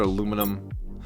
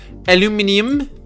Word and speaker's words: aluminium: I have in my inventory titanium silicon another aluminum aluminium as the British say I feel that Senai yeah right